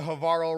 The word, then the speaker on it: Havarl: All right, I'm going to get us started here with the Havarl rhymes with Carl situation.